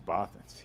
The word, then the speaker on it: Bothans: Now I get to correct you. It's Bothans.